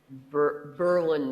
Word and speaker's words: Berlin: Now, I did do one cheaty thing in this novel in that area, and that is there's a setting, Berlin, New Hampshire. Emphasis on the first syllable.